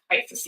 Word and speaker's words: IACIS: ISIS, yes.